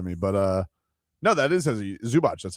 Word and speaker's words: Zubac: But no, that is Zubac.